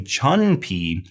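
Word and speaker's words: 椿皮: Remember, in Chinese pinyin, the U has an oo sound. Sometimes English speakers look at this and they want to say chun pi because they think the U has an sound.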